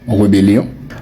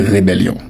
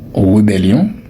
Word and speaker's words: rébellion: Voilà, vous avez toujours tendance à prononcer ce mot rebellion parce que on dit rebelle. Oui, on dit rebelle mais on dit rébellion. Rébellion. Donc ne dites plus jamais rébellion.